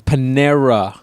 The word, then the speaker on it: Panera: It's Panera. Anyways, however you pronounce it, it's fine.